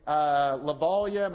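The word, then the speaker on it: Lovaglia: lecture class, he's like, Lavallia, my name is Lavallia. It's pronounced like, hopefully by the end of this class, I'll Lavallia.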